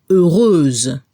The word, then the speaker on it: heureuse: Transformamos la X por SE. Y a nivel de la pronunciación al femenino se debe escuchar la Z al final. Heureuse.